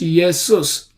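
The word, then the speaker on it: Iesus: which means yesus in Latin is also it is written i s u s is pronounced yesus today's English pronunciation Jesus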